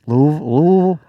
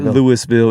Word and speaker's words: Louisville: Louisville? I can say it. Louisville. Louisville. It's not Louisville. It's not Louisville. It's Louisville. It's like Illinois.